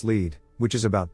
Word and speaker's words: Lead: Pronounced Lead, which is about 2 miles further up the hill from Deadwood, South Dakota.